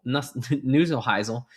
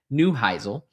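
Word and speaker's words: Neuheisel: Dallas Renegades coach, um Nusle Nuselheisle, uh that is not how you pronounce his name, Rick Newheisle.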